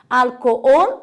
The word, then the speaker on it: alcohol: Alcohol, a sílaba tônica é ol, a última, em português é álcool.